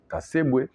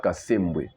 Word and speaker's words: Kasembwe: journaliste na RTNC akendaki kotanga kombo ya général Kasebwe à la place ya général Kasembwe.